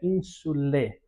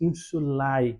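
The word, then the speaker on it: insulae: E perceba que a pronúncia eh desse a pronúncia eclesiástica se dá como que eh omitindo a sonoridade do a e falando somente o é ínsule. Enquanto que na pronúncia reconstituída nós diríamos insulai, nós pronunciaríamos todos os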